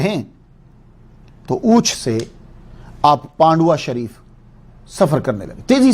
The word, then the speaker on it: Pandua: یہ جو پانڈوا ہے اس کا صحیح تلفظ PANDUA پانڈوا یا PANDOOAH پانڈوا، مگر جب گفتگو کی جاتی ہے تو بیچ میں وی کا تلفظ جو ہے وہ نکال دیتے ہیں، وی کو بول دیتے ہیں پانڈوا.